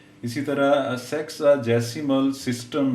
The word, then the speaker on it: sexagesimal: सेक्साजेसिमल measure of angles in radian. तो ये correct pronunciation बेटे इसकी सेक्साजेसिमल, सेक्साजेसिमल, सेक्साजेसिमल measure of